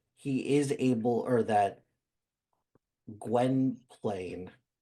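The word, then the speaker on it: Gwynplaine: his kindness that he is able or that Gwen Plain, right? That's how you pronounce it. Gwenplane.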